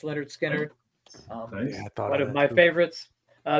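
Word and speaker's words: Lynyrd Skynyrd: number 10 I have Leonard Skinner's first album pronounced Leonard skinnard one of my favorites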